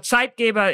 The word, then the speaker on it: Zeitgeber: you mentioned um different side gavers I'm gonna pronounce it the German Way because I'm German uh so site Gaba is is a German